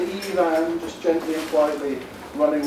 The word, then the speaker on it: Ifan: And those of you who are already in my MKT 402 class will know it's pronounced like two women's names, Eve and Anne. Just say Ivan, just gently and quietly running one into the other, and you got it spot on.